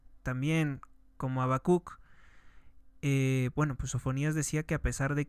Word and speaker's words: Sofonías: con la introducción del libro de sofonías con acento en la i libro de sofonías Quién fue el profeta